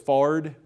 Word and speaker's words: forehead: one of my favorite words that my grandpa said was fard instead of forehead you know i uh